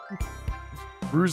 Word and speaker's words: Rouge: These are mascot platform characters who are actually voice acting in the 2000s and it is Rouge the Color. Gotcha. Pronounced Rosie. Rouge like the color.